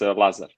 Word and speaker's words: Lazar: It's Lazar.